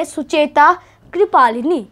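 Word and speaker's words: Sucheta Kripalani: think okay so yeah her name was shujita shuchita kiplani where you can say sucheta kripalini she has its pronunciation so here you can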